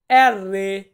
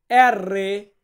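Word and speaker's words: R: তারপর আছে এর রে, এর রে, আমরা এটাকে বলি আর, আর, আর কে আমরা বলবো এর রে।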